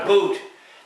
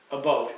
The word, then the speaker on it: about: around saying pronouncing it a boot there are people that actually believe that and it it baffles my mind if they'd only listen they'd see it's PR we pronounce it a boat now the other thing